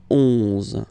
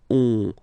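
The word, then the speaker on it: onze: 11. Okay, so O plus N give you the sound on. 11.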